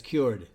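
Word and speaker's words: Kyoord: It is spelled Kyord, and they pronounce it as cured.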